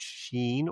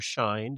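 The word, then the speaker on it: Shein: They com they sued Sheen or Shine depending on how you pronounce it.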